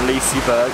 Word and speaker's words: Liseberg: ago we were here hello and welcome from Liseberg that's how you say it apparently and it's